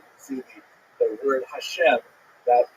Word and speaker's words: Hashem: And the word Hashem, of course, is pronounced with the letter H. But there is no letter H in the Russian alphabet. So in order to indicate that it should be pronounced as an H, they took the letter